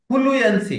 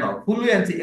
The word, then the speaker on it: fluency: অনেকের সমস্যা হচ্ছে এটা কেন, ফ্লুয়েন্সি কেন, ফ্লুয়েন্সি ওখানে ওখানে ওখানে জায়গা কেন দেন, ওখানে জায়গা দেওয়ার, ওখানে স্পেস দেওয়ার কোনো, ফ্লু, ফ্লু একসাথে একদম একদম একসাথে উচ্চারণ করবেন সংক্ষেপে, ফ্লুয়েন্সি, ফ্লুয়েন্সি, ফ্লুয়েন্সি, ফ্লুয়েন্সি।